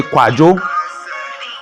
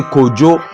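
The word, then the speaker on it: Kwadwo: It's a tonal language. So the tones are different. Some say Kwajo. Kwajo. Remember, J wasn't invented till 1655. Some say Kojo with a J. But Kwajo is Kwardwa. Jo is spelled with DWA rather than J, because J didn't exist.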